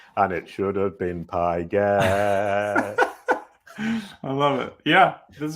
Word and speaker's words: Pigott: We were just discussing how to say name, and it's Pigott, apparently. That's correct? Yep, that's right. Pigott.